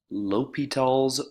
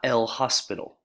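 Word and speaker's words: L'Hôpital's: rule that is pronounced l'hopital's rule not el hospital right there's no s in there lupito in order to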